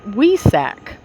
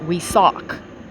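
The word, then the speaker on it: Wesak: a group meditation called we sac excuse me it's pronounced we suck initiates of the law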